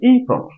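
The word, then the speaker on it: April: কোথায় এপ্রিল আর কোথায় এই প্রল কতটুকু ভুল বলতাম আমরা এপ্রিল বলবো না আজকে থেকে বলবো এই প্রল এই এর উপর একটু চাপ দিতে হবে এই প্রল এইপ্রল তারপর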